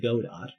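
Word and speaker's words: Godot: The real name of this man who calls himself Gdau, even though it's pronounced God dot.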